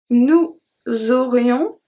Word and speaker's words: nous aurions: So aurions, we don't pronounce the S.